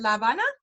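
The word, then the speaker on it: La Habana: you say la banda is that how you pronounce it Lavana Lavana Havana Cuba Havana Cuba um Susie graduated from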